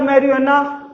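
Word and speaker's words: marijuana: तो स्टूडेंट्स, मुझे मात्र दो ऐसे वर्ड मिले जो जे से रिलेटेड थे और वहां पर जे साइलेंट था। एक तो था एलोपिनो और दूसरा था मैरिजुआना।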